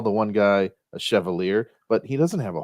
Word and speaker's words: chevalier: Because it's Chevalier. Chevalier. I didn't know it. That's why I said chevalier.